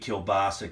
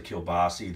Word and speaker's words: kielbasa: One thing I want to mention on the enunciation, Kolbasz, Kolbashi, Kielbasa, Kielbasi. There's just different ways that these sausages are pronounced, and I was told these ways to say these sausages. That's why I say them that way.